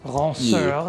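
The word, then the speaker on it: ranseur: You know, the ranceur or ranceur, if you want to pronounce it more French, looks like what you would expect.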